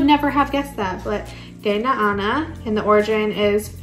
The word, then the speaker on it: Danu: So we have, I think Danu, or I think there's another pronunciation to it, but very cool devotion to her.